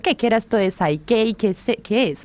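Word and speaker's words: PSYCH-K: No, en realidad es así de simple, es Psyche, ¿no? Meche dice que es como si fuera una palabra japonesa.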